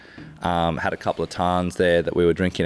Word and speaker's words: tarn: Tarn t I think it's just t a n and it's called a tarn, pronounced a tan and it's just literally